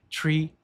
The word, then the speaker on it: three: Three, Three Beus Springs. Com relação à pronúncia, aqui nós temos esse THR.